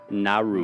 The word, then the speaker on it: Nauru: And Nauru, I think is how you say it. Or So Nauru? Nauru.